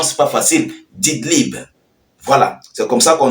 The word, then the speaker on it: Idlib: le HTC dans la ville dididlip excusez-moi la prononciation c'est pas facile didlibe voilà c'est comme ça qu'on dit alors en